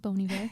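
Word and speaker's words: Bon Iver: and then is it is it bony bear is that how you say it bony bear yeah okay him on there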